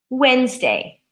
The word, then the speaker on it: Wednesday: Monday Tuesday Wednesday but when we spell it there's 20 silent letters in their addy and an e it looks like when Ness day when Ness day we don't say it that way we say wednesday wednesday so again three syllables changed to two syllables the D and E are out Wednesday good so these are